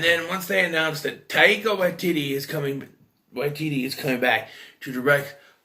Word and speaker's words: Taika Waititi: Tate Blanchett is directed by Taika Waititi. Pronounced that right.